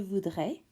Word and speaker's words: voudrais: Je voudrais with a silent S is I would like.